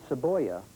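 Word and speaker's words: cebolla: glue the Spanish word saboya means onion we'll take the middle syllable of saboya which sounds like the English word boy and you can see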